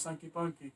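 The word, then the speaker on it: Sanky Panky: You gotta watch- say it right, because I'm saying it No, wrong. it's Sankey Panky.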